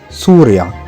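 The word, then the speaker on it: Συρία: En effet, la Syrie en grec ancien se prononce souria.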